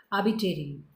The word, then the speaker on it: arbitrary: एक वर्ड है आरबी, देखिए यहाँ पर आबी, ये आर साइलेंट, ये वाला आर भी साइलेंट। ये कहता है, कैसे बोलेगा, आबिटेरी, आबिटेरी, आबिटेरी, ऐसे बोलता है ये इसको। ये वाला साइलेंट करेगा, ये साइलेंट करेगा, कैसे बोलेगा, आ बी टे री, ऐसे बोलेंगे इसको, ठीक है।